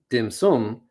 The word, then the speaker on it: dim sum: of various sweets and in hong kong it's pronounced dim sum and then when you translate it into japanese